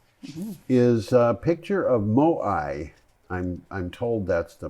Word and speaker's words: Moai: Our first item is a picture of Moai. I'm I'm told that's the pronunciation.